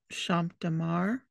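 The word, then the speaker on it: Champ de Mars: Eiffel Tower and the Champs de Mars is that how you say it uh I would say champ DeMar okay most of the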